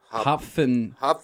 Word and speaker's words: Hopfentea: It's an F. It's Hopfentea. Hopfentea. It's like a German thing.